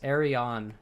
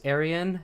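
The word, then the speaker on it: Aerion: It's Arion. It's Arion. Cuz if it was Aryan, his name would be Aryan Targaryen, and they'd be stupid. So, it's Arion Targaryen.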